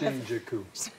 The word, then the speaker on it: Shinjuku: How do you say their name again? Shinjuku. Three syllable.